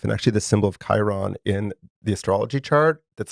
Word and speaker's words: Chiron: I've never heard of Chiron before. Am I saying it right? Chiron?